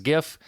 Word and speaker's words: GIF: versus j-i-f okay so I pronounce it the peanut butter is Jif the file format is GIF there's a site now